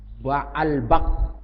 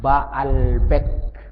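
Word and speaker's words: Baalbek: Patung ini dikenal daerah mereka apa itu namanya, Ba'albak gitu. Kalau ada ejaannya, logatnya sana Ba'albek pakai e, Ba'albek nama tempatnya. Atau di beberapa tulisan disebut Ba'labak, seperti nama seorang perawi hadis, Ba'labak.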